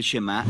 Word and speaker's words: Shemá: La primera palabra del Shemá es oye o escucha. Y en hebreo se pronuncia shemá.